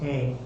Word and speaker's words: Ingres: Ingres, and pronounced Ang, and look him up.